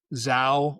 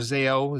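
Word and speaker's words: Zao: And you you made me think of uh a metal band, Zho or Zo, Z AO, however you know people pronounce it.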